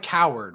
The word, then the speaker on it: Coward: It's spelled like Coward, right?